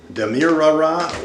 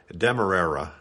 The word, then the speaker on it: Demerara: either this kind uh damira or Coronado or rap Dura let me just pause right here for a moment to pronounce these three types of sugars correctly it's turbinado Demerara or rapadur either either those those are